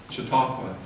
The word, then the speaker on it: Chautauqua: is a chocolate and how do you say it chautauqua and the jatropha movement